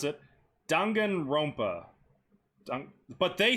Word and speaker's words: Danganronpa: charge is going to say something if i mispronounce it danganronpa but they say it danganronpa so i'm just gonna go with what they